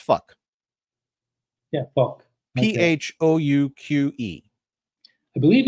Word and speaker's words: phoque: The French word for seal. Seal. Phoque. But if you Isn't pronounce it, it's fuck.